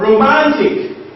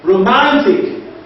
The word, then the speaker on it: romantic: So in the word romantic, romantic, what is stressed there is what? Ma, that's the second from the last syllable.